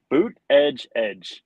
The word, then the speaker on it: Buttigieg: Boot edge is how you say it.